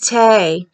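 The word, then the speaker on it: Tae: bag yep this is tea with tay and tay is spelt t-a-e and it's called winter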